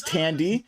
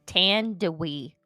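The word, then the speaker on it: Thandiwe: candy candy is it i thought it was tandy no i thought it was tandy but then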